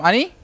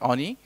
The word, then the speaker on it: Anie: my name as Ani basically say all and then you put up the knee there Onie uh I'm a software